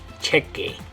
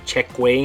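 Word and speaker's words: cheque: later on uh but notice that you don't say check way I think a lot of English speakers would want to say check way with that one uh remember in our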